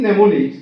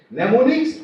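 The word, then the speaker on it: mnemonics: In pneummonics the first letter M is silent.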